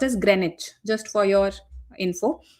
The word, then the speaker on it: Greenwich: And this is pronounced as Greenwich just for your info. Greenwich. Okay. Not green witch.